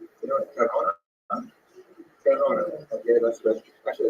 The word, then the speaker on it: Gerona: I think Gerona is pronounced Gerona. Is that correct? Gerona? Gerona.